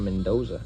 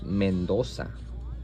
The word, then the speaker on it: Mendoza: it's a Spanish word I have to pronunciate exactly how it's supposed to be pronounced which this is not mooza this is mendosa and this is not